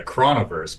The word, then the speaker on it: Chronoverse: Okay, you guys are actually saying it wrong. It's actually the Chronoverse, because if you actually put in CHRON on and actually see how it's spelled, it's actually spelled Chron. So it's only Chrono when there's an O at the end. So Chrono when it's Chron, it's Chron. So it's Chronoverse.